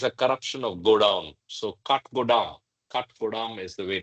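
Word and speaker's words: Kathgodam: ashoke like ashoke mentioned kh is pronounced Cut. Cut as in timber. Oh, I see. Yes. Okay. Got it. And godam is a corruption of godam. So cut godam.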